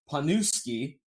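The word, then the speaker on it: Pniewski: I believe his last name, his name is Mike, but I believe it's pronounced Panuski.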